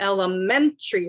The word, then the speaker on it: elementary: strongest and the longest in elementary school it's men elementary school okay english words have